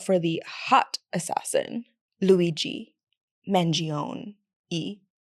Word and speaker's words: Mangione: the hot assassin Luigi mangion e you pronounce the e at the end I'm not Italian okay